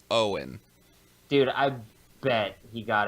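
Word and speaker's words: Eoin: you pronounce his name Owen yes I always pronounce the e Wayne yeah that's how most people always pronounce it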